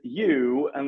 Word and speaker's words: Johan: it right do I a good guide is you and then number one youan youan okay and that's a Swedish